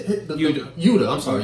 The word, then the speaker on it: Yuta: Yuta. I'm sorry, Yuta.